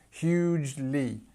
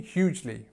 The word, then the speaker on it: hugely: Hugely, hugely, jli. This part in the middle, the jl, is very difficult.